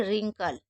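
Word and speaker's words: wrinkle: हैं, इसको क्या पढ़ेंगे, रिंकल, रीस्ट, रॉब। तो क्या करेंगे, कभी भी डब्ल्यू आर अगर साथ में होगा तो हम डब्ल्यू को साइलेंट रखते हैं।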